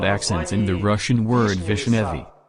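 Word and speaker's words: вишнёвый: Farther the speech about accents in the Russian word Vishnevy. The sense of the word changes depending on where there is an accent, on the first or second syllable.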